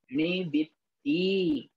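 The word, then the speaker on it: णिवित्ति: पाबारंभ, पाबारंभ, निवित्ति। ती में आधा ता आगे जुड़ा हुआ है और पूरे ता में बड़ी की मात्रा लगी हुई है।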